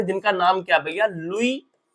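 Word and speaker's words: Louis: लुई, spelling बड़ी अजीब है, लुई फिशर, ठीक है ना।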